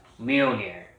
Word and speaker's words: Mjolnir: read it i didn't pronounce it i couldn't pronounce it so but uh now i got it it's mirroring here mjolnir there you go anyway i've it's a good